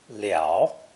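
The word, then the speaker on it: 了: are extended connotations of this simple two-stroke character pronounced liao or thirteen an unpleasant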